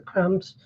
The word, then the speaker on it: crumbs: blowing away the crumbs. Crumbs. I forget that the B is silent.